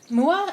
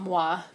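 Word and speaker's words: Mua Pel'am: I don't know if that's how you say it, but Mua? I think it's Mua, not Moa, but I'm pretty sure I'm saying it wrong.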